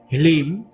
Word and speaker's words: Hleem: अब अपने आज्ञा चक्र को थोड़ा सा पिंच करें और बगलामुखी का बीज मंत्र हीलिंग, HLEEM, इसे इंग्लिश में लिखेंगे तो HLEEM, हीलिम का उच्चारण करें।